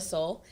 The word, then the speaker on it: Sol: So my artist name is Soul, and so I basically made my second name, you know, half of the album name. So it's spelled S-O-L, and the album name